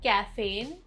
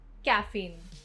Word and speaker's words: caffeine: Word 16, caffeine, not caffeine. Caffeine. Emphasis on second syllable.